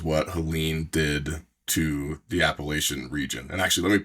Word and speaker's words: Appalachian: Do you guys say Appalachian or Appalachian? I don't want to get hit. Sometimes I get slapped if I say it wrong. I grew up saying Appalachian up north, but down here it's definitely Appalachian. Appalachian. The strong CH.